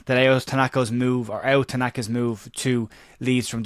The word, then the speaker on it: Ao: And Tanaka, or Ao Tanaka as it's correctly pronounced, we've been corrected, is the one that we'll focus on.